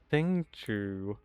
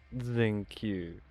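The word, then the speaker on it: Xingqiu: That ain't how it's pronounced. It's ZenQ. Because X is pronounced like a Z, generally, which gives us the zing. And then QIU, you'd pronounce that Q.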